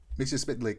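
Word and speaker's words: Mxyzptlk: Mixie Spitlet, and like Superman mispronounces it, and then Mixie Spitlick essentially he like sounds it out, and he goes Mix Yiz Spitlick, and ever since then I've been able to say his name properly, Mixie Spitlick.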